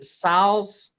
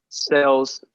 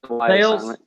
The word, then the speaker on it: Sales: We got Caden, is it Siles? Salas or? Sales. Sales? Yes, sir. God, I butchered that.